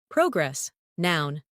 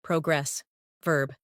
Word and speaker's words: progress: Progress noun versus progress verb.